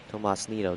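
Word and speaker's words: Tomás Nido: quick once now catch Tomas Tomas Neato that's how you say it Alec bom Alec bom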